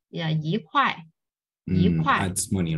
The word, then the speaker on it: 一: So whenever you see before any other words, pay attention to the tones of the second word. Is it first tone, second tone, and third tones? If it's like 1, 2, 3, first, second, and third tone, you just need to change E into four tone.